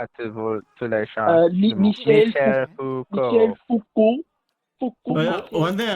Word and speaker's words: Foucault: How do you pronounce Michael Foucault then? Michel Foucault. Pourquoi êtes-vous tous les chats? Michel Foucault.